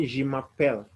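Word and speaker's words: je m'appelle: is teacher jack so in french you'll say jimma pell g mapel the letters are j e people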